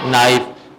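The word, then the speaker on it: knife: knowledge कनक नहीं पढ़ेंगे नौक क नाइफ नहीं पढ़ेंगे नाइफ इसी तरह डी कम्स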